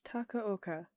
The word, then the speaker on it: Takaoka: Hi guys, I just realized I pronounced her name wrong. It's Takaoka.